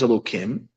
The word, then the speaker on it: Elokim: One is Elokim, which we pronounce Elokim, and another one is Havaya, Yud Kei Vav Kei, which we're now allowed to say its pronunciation.